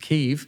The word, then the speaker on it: Kyiv: And I was recently invited to Kyiv, which I learned is correctly pronounced Kyiv. Okay, well, thank you for that. Sorry, Kyiv.